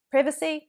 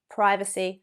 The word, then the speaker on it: privacy: Privacy, British, privacy, American.